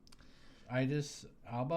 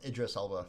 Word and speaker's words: Idris Alba: Idis Alba. Uh Idris Alba.